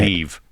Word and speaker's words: Niamh: Well, how do you say Neve.